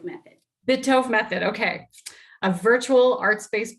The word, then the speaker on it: Bitove: Bitove method. Bitove method, okay.